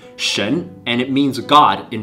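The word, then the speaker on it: 神: I want you to get familiar with it's pronounced Shen and it means God in Chinese many NBA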